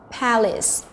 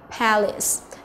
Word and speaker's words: palace: C này chúng ta có palace, palace, vậy nó sẽ là trọng âm thứ nhất, đúng rồi, vậy đáp án của chúng ta chính là đáp án B.